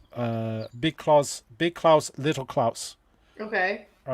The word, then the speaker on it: Klaus: on a Hans Christian Andersen tale called Big Klaus, Little Klaus. Okay. All right, but it's spelled with a K, not a C.